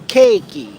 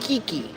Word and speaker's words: Cakey: started to do this so i'll say it's cakey not kiki or kiki it's cakey cakey cakey